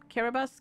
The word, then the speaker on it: Kiribati: kiribati the thing is it's not pronounced that i i realize that later i actually forgot how it's pronounced um kiribatis care bus care bus i think yeah but the way it's spelled it's like yeah kiri and then b-a-t-i so i thought oh that's